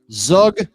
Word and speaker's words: Zug: No, it's Zug. just how it's pronounced, man.